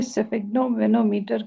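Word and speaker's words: sphygmomanometer: I just सो इससे स्फिग्नोमेनोमीटर कहते हैं। ये एस जो होती है वो शुरू वाली जो है वो साइलेंट होती है, स्फिग्नोमेनोमीटर, राइट। सो या which is used in blood pressure, right.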